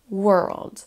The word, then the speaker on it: world: voit aussi qu'on a donc un son W le même son e que tout à l'heure un petit r en l'air un L et un D qui nous donne World World cette erreur de